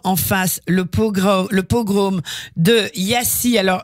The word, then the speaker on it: Iași: face, le pogrom de Iassi. Alors, ça s'écrit IASI en français, on dit Iași aussi en roumain, on dit Iași.